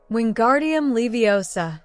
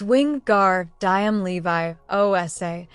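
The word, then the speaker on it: Wingardium Leviosa: arms like a windmill you're saying it wrong I heard her miny snap it's Wing gar diam Levi OA make the gar nice and long you do it then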